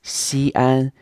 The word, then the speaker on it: 西安: So this place, Xi'an, is pronounced in two first tones, two high, constant pitch or level pitch tones.